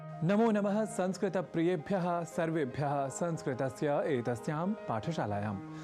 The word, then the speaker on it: संस्कृत: इसलिए हमें संस्कृत को संस्कृत न कहकर संस्कृत यानी त अर्थात तकार के बाद अ या आकार के प्रयोग के साथ उच्चारित करना चाहिए। इसी तरह हम जब राम,